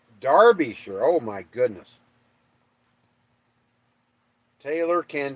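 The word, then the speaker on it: Derbyshire: other guy pushy Smurf Derby sure is pronounced Darby sure oh my goodness Taylor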